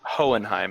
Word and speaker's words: Hohenheim: yodan how do you say his name is hohenheim hohenheim hohenheim uh those those episodes where you